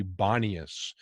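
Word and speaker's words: Banias: the grotto of pan arabs can't pronounce uh p so uh it ends up in our our arabic uh terminology bonnius instead of ponias so uh notice how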